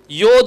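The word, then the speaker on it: יוד: சொல்லுவாங்க யோத் அப்படின்னு சொல்லுவாங்க ஏன்சியன் ஹீப்ல அதை என்ன சொல்லுவாங்க யாத் யாதுன்னா இன்னைக்கும் கைன்னு தான் சொல்லுவாங்க கைக்கு என்ன சொல்லுவாங்க யாதுன்னு தான் சொல்லுவாங்க ஆனா இன்னைக்கு வந்து மாடர்ன் ஹீப்ல அதை உச்சரிக்கும் போது யோத் அப்படின்னு சொல்லி உச்சரிப்பாங்க இதை எழுதும்போது பாருங்க நல்லா கவனிங்க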